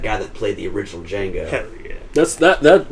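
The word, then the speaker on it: Django: DJ a g o d is silent and he's like I know and that's that's that guy that played the original D Jango hell yeah that's that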